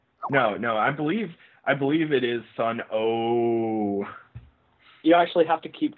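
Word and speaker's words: Sunn O))): I'm going to pronounce O, like, drawn out, right? No, it's actually silent. Yeah. No, I believe it is Sun O.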